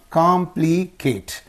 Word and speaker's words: complicate: mind okay fifth one in words of more than two syllables ending in eight the primary accent is placed two syllables before the suffix two syllables before the